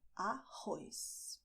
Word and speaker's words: arroz: So you're going to use your throat here "ARROZ".